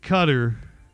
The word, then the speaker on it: Qatar: I I can't believe that there was an apology letter written to uh uh to cutter.